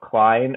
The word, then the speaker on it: Cline: It's just my name, Klene. Um, Klein is spelled C L I N E, by the way.